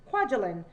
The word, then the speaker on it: Kwajalein: right here, and one, I actually know how to pronounce that because I've had friends that have lived in that island, Kwajalein.